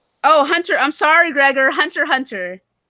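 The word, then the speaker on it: Hunter × Hunter: Hunter. He said the X is silent in Hunter and I said Hunter X Hunter.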